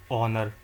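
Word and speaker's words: honor: मैंने आपको बताया एच जहां पे एच साइलेंट आ जाए वहां पे जैसे कि एग्जांपल दिया था इसका आर ऑनर ऑनरेबल अब कुछ एग्जांपल करते हैं।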